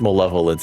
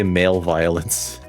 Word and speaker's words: malevolence: And because of my uncle's male va male vi male m I know it's pronounced malevolence. I want to say male violence.